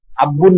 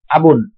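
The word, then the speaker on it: أب: আব্বু যেটাই বলেন আবুন আব্বুন না কিন্তু আবুন আবুন বাবা আবুন আবুন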